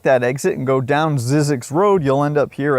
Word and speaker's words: Zzyzx: California has a town called Zzyzx, pronounced Zzyzx.